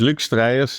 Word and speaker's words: Luuk Strijers: My name is Lick Streas. It's Dutch and especially the surname is a bit difficult to pronounce, but uh there's hardly any of us.